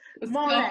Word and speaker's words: Marlen: Marlen, perfect, yeah.